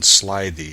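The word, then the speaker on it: slithy: pronounce Slide the toes the eye in slide thee is long as in writhe and toves is pronounced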